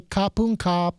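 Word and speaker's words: ขอบคุณครับ: The men say kapun kap, and, like everyone's like this. And then the women say ka, so kapun ka.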